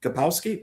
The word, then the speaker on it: Kapowski: How do you pronounce her last name? Kapowski.